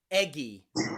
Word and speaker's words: eggy: But when you see GGY, then we change the pronunciation. Usually, this time it's that G sound again, like in eggy or doggy or soggy.